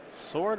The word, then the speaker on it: sword: get the sword yes sword of fire and ice oh we don't pronounce the w i'm sorry did i